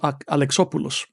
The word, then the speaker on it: Alexopoulos: artist as well, George Alexopoulos. And I say Alexopoulos because I'm a fellow Greek, and that's the way you pronounce it. You don't say Alexopoulos, you say Alexopoulos.